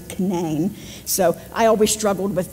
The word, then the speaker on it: Canaan: I talk but in West Virginia it's not pronounced Canaan it's pronounced Canaan we have a Canaan Valley spelled the same way it's canane so I always struggled with that when I